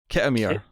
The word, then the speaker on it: Khitomer: The pronunciation was closer to it was. It's Khitomer. Kitamir.